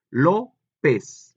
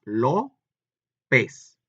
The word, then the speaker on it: López: López. Para empezar, dos sílabas. Lo, pez. ¿Dónde lleva acento? En la O, que es en la primera sílaba, si lo vemos así,